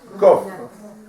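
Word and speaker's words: קוף: Mais en vérité, en hébreu, on ne doit pas dire kouf. Comment on doit dire? Kof. La vraie prononciation, c'est kof, on ne dit pas parce que kof, ça veut dire un singe.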